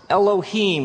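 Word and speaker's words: אֱלֹהִים: And it's pronounced Elohim. Let me hear you say Elohim.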